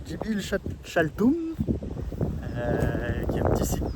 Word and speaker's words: Dzibilchaltún: par la visite de Jibil mer se prononce Jibil Chaltum qui a un petit